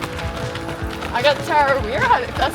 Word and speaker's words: Tarawera: I got Tarawera, that's how you say it.